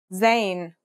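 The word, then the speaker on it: زاي: In terms of pronunciation, you say it just like the English Z, as in zebra, or Al Jazeera.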